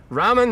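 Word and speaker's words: raam: Ram is how you pronounce it.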